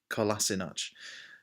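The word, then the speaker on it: Kolašinac: Rose as well as opposed to Montreal or Calissa notch are you pronounce it Collison hutch so free Tottenham player so far centre back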